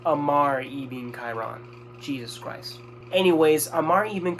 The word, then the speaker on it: Ammar ibn Khairan: I've been saying that name wrong this entire fucking time. Ignore what I said about Assad. It's Ammar ibn Khairan.